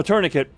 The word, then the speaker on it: tourniquet: I'll get the Oh, tourniquet. That is how you pronounce that word spelled out.